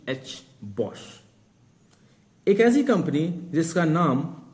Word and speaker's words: Bosch: और आज हम बात करने वाले हैं एक ऐसी ही लेजेंड्री कंपनी की जिसका नाम है बॉश। Spelling B ओ एस सी एच बॉश।